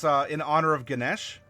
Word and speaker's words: Ganesh: And it's in honor of Ganesh, because I don't believe you pronounce the A at the end, at least not properly.